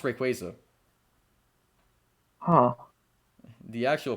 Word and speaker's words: Rayquaza: you say it rate quite easily yes it pronounced Rayquaza huh the actual pronouncing I used to pronounce